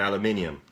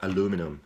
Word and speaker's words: aluminium: We have these in aluminium, or aluminum as you Americans say.